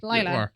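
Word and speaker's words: Lyla: Y is usually an I sound. Laya.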